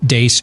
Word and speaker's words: Deace: Beck program, we're the crew from the Steve Deace Show, noon to 2 Eastern, right after Glenn Beck on Blaze TV, radio, and podcast. You can follow us on Twitter at Steve Deace Show.